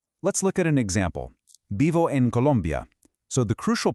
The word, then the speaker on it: vivo: Vivo en Colombia. So the crucial point is this. When pronouncing a word like vivo, that V nestled between the vowels doesn't have a harsh, buzzing English V sound.